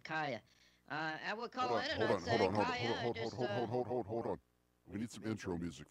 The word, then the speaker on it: Caia: it's easier pronounced cuz I had no idea was kya how sexy is that it is sexy but you coulda spelled a ki a of course I guess